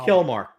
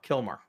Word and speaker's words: Kilmar: The Elsa the the the guy mistakenly sent to Also Kilmore. Kilmar. Kilmar Armando Ago Garcia. There you go. But I'm going to pronounce it.